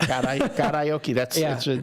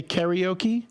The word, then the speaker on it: karaoke: It's karaoke. It's Japanese. Some people say karaoke. I always say karaoke. I say karaoke. Because it's, again, Japanese. Like, okay, so this is showing what a snob I can be. If you go to Japan, they call it karaoke.